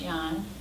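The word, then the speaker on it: Yang: the Yong which is why ang but it's pronounced Yong there's Wu which is w u and then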